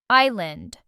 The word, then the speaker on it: island: This word has a silent s and means a piece of land surrounded by water. Island.